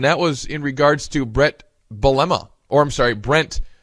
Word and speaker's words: Bret: just ridiculous but uh his first name has always been Brett Gordon gee apparently thinks it's Brent uh so here's a